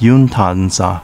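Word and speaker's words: Yomitan: father of overseas emigration yamitan village pronounced yuntanza in uchnaguchi known for duque mura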